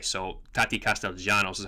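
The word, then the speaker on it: Castellanos: because Argentinian C I know his name is pronounced castalanos but in Argentine in Spanish his Double L means actually means a j so tati Castell Janos is how his name is pronounced however he's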